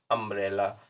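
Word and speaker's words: umbrella: हुआ है ये शब्द, लेकिन हिंदी में इसका उच्चारण आ से शुरू होता है, अम्ब्रेला, इसलिए इसके आगे एन लगेगा।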